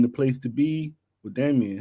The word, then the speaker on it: Daemon: It's just Daemon. It's Daemon. I just need Daemon. to take the E out.